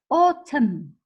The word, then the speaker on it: autumn: Now words that has a silent N. Yeah, you write the N, but you don't say it. Autumn, him, column.